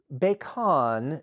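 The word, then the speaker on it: Becan: Now, Baikon, the name itself, that's spelled B-E-C-A-N, it simply means, I've seen it interpreted as water-filled ditch or a moat.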